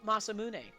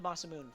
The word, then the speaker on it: Masamune: either they're awful so it is masamune I called it the masam moon for years I had no idea